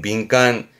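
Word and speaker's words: 敏感: 발음은 민간, 민간.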